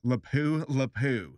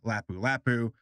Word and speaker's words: Lapu-Lapu: hey guys real fast I see the name lapu-lapu as lapu-lapu in this video and I just wanted to give a quick little correction I said it wrong I found out afterwards that it is said lapu-lapu just wanted to acknowledge